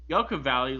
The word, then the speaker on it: Yucca Valley: going on yeah and you're pronouncing it wrong I'm sorry Yocum Valley like yucky Valley and Garrett Ryan like